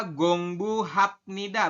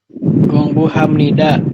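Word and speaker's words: 공부합니다: Ini dibaca gong. Ini dibaca bu. Ini dibacanya bukan hap. Tapi am.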